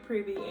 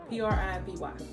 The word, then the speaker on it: Privy: all about shopify and i think that's how you say it's pretty p-r-i-v-y um so yeah i